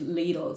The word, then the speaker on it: Lidl: their ads to say Lidl, because they were like, everyone just says Lidl, nobody says Lidl. But the official Okay. German pronunciation is Lidl.